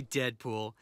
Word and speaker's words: Deadpool: manners introductions call me Deadpool it rhymes with no school too cool ain't no